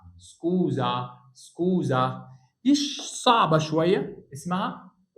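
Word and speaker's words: scusa: هنا الزد اهي اس ما بين متحرك ومتحرك يبقى اسمها سكوزا.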